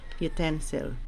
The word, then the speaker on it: utensil: can check the dictionary it is stressed on the second syllable utensil okay so it's ipa